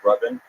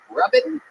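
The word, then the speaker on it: Rabin: Is it Robin? It's pronounced Robin. Robin, but it's spelled R A B I N. So, it's spelled Raven. No, the A makes the same sound as the first syllable in amazing.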